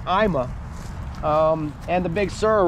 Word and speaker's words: AIMA: I think AIA IMA I say it wrong all the time it's IMA um and the Big